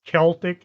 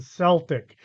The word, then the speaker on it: Celtic: I've seen it pronounced both ways, Celtic and Celtic. It depends on who you want to listen to.